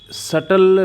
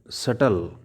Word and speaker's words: subtle: My breath runs in a subtle rhythmic stream. Here, the word subtle, subtle. Here, B is silent.